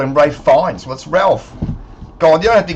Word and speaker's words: Ralph: But if you're just changing Ralph to Rafe and you're in a formal setting, it's Ralph, guys. Don't call it Rafe.